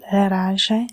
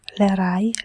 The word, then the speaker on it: Leraje: Tonight I will speak about very beautiful grimoire that I have written called Leraje or Leray Leraye. It is a name that has different pronunciation.